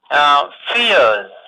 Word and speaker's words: fears: So s is pronounced as z, fears.